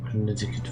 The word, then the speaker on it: Connecticut: Connecticut wird es ausgesprochen.